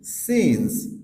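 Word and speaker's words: scene: পরে আই থাকতেছে এজন্য এখানে সি এর উচ্চারণ সাইলেন্ট হচ্ছে আরেকটু বোঝার জন্য আমরা আইপিএ দিয়েছি যেমন সজাস সিজেস সিজেস সেম ভাবে সিন্স সিন্স এখানেও এস সি এর পরে ই আছে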